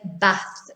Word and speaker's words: bath: pronounce them differently so words like uh what you might learn as banjo bath in manchester we say bath we use short vowels not bath bath not grub grass grass